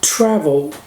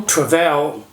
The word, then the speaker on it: travel: Já o travel não, porque a tônica é na primeira sílaba, percebe? A gente fala travel e não travel.